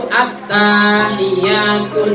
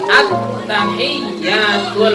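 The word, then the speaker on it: التحيات: Jadi kadang banyak yang baca itu at-tahiyyatun. Ini salah ya. Jadi at-tahiyyatul.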